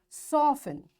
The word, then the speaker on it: soften: Castle, often, whistle, soften, hasten, bustle, and gormy. In all these words, letter T is silent.